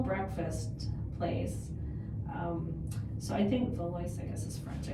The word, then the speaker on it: Valois: I realized I was saying it wrong when the Uber didn't recognize where I told them to take us. And I says, oh, you mean Valois.